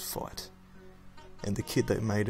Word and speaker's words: FeiT: fui TI know how it's spelled but it's pronounced fight and the kid that made it is pretty